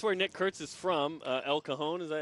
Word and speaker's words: El Cajon: El Cajon, is that how you say it?